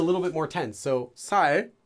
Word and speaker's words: 살: You tense your voice. So the regular, just say it like you regularly would say this one normally. 살, 살, 살, 살. Easy. S, s. More tense. 살, 살. Slightly longer sound.